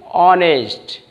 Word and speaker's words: honest: Number 19, honest. Here, honest, honest man. Or the word starts with S, but is silent.